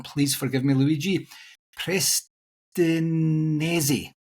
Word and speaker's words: Prestinenzi: David is also the co-author of the B2B Sales Playbook book with Luigi, I'm probably going to pronounce it wrong, please forgive me, Luigi, Prestinenzi. Prestinenzi.